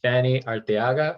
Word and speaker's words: Fanny Arteaga: Today I am joined by Fanny Arteaga. Am I pronouncing that right?